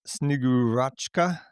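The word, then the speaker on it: Снегурочка: Um but it's it's pronounced Snigurua and um that's the snow maiden.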